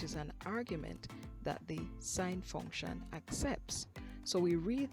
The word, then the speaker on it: sin: use a shortened version s i n which we still pronounce as sine for the cosine we